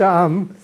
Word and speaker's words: CAAM: You pronounce CAAM. CAAM. Normally we pronounce CAAM.